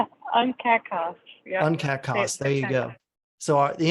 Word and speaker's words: UNCAC CoSP: UNCAC CoSP. See, there you go. UNCAC CoSP, there you go.